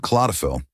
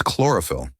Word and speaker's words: chlorophyll: You said claophil. It's chlorophyll.